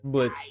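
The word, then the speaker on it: Blitzø: that sort of passion I'm Blitz the O is silent what oh oh thank you now what's the T sis the T Blitz the silence why killing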